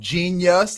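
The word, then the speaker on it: Jeen-yuhs: right now on netflix called genius it's spelled j-e-e-n-y-u-h-s genius which i did start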